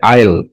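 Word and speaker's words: I'll: আমি অবশ্যই সেগুলো পড়ব আই আল এটার উচ্চারণ আই উইল না আ আই এল মানে শরিয়া রসই ল ঠিক আছে আইল আইল সার্টেনলি রিড দেম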